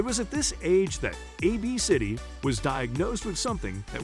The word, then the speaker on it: ABCDE: On paper, it appears quite strange, but it isn't pronounced how you'd think. Her daughter's name is pronounced AB City.